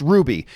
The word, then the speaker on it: RWBY: RWBY, pronounced Ruby.